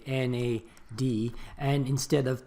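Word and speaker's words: NADH: adenine die nucleotide so that's why you know because it's a mouthful that's why we prefer to say na dhih and instead of pronouncing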